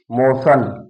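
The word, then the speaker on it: motion: मोशन, टी आई ओ एन आया है जिसका उच्चारण सा हो गया, मोशन।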